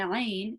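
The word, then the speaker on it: ع: So the ain is actually pronounced from the middle of the throat. Okay, so a is pronounced from the middle of the throat, the same as the ha. So there are 2 letters that are pronounced from the middle of the throat. So ha and ain.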